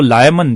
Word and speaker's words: Layamon: तो लायमन, जिसकी स्पेलिंग है LAYAMON, लायमन ने एक बहुत शानदार हिस्ट्री क्रॉनिकल लिखा है जिसका नाम है ब्रूट।